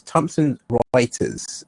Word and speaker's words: Thomson Reuters: Just to correct you on the company that you was trying to pronounce is Thomson Reuters, and they're now part of Bloomberg.